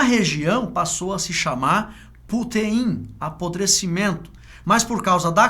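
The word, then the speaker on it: πύθειν: O vocábulo grego apodrecer, ele se pronuncia putein, tá?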